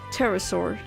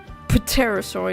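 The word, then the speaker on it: pterosaur: So, it's pronounced, you don't pronounce it at all with the P in terasaur. Peterasaur.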